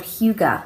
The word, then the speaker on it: hygge: But the session they were doing was called hygge, which you'll have to excuse my pronunciation of the Danish word there.